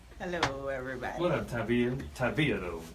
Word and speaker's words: Tavia: Tavia though. Yeah, Tavia. Emphasis on the V.